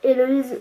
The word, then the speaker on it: Héloïse: C'est-à-dire que moi je m'appelle Héloïse, donc avec un H, pas comme dans la chanson de Claude François, mais c'est très rare qu'on sache l'écrire correctement et qu'on le prononce aussi correctement. Parce que j'ai entendu des Héloïse, Louise, Élodie, enfin tous les prénoms inimaginables, sauf mon vrai prénom.